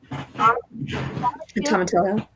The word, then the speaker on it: tomatillo: She added, and I'll pronounce this right, a tomatillo, which is that Tomatillo.